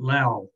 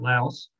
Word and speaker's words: Laos: says thailand myanmar and lao is the way it's pronounced there where else used to call it laos they seem to drop the s from the pronunciation and it's also a